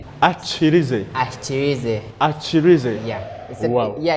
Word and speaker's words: Ahikyirize: You pronounce it as Ahikyirize. Ahikyirize.